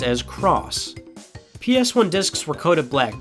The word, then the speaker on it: cross: meant yes and x-men no while most gamers pronounce the X button as X it is actually pronounced as cross ps1 discs were coated black because at the